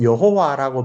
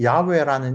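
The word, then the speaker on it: יהוה: 우리 상식적으로 여호와라고 번역된 이 발음은 틀린 발음입니다.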